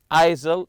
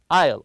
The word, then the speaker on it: aisle: an aisle seat and remember Isle with a silent s here don't read it isil it's Isle the S is silent